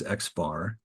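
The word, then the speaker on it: x̄: X with a little bar on top of that which is we'll pronounce this Xbar is the sample mean.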